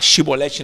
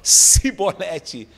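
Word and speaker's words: שיבולת: Então, os efraimitas tentavam falar shibolete, não conseguiam, falavam sibolete.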